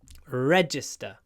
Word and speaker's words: register: registration so register it's on the first syllable register registration on the third syllable register registration register registration